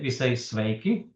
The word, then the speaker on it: sveiki: Yes, we say sveiki.